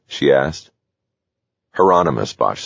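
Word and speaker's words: Hieronymus: Heronomous, Bosch said.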